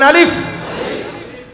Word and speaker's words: আলিফ: একটু হাসি দিয়ে বললেই দেখবেন আলিফটা শুদ্ধ হয়ে যাবে। বলেন আলিফ।